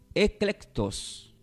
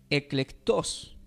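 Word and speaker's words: ἐκλεκτός: Y la palabra escogidos significa, este está del griego, del griego y se pronuncia como eclectos.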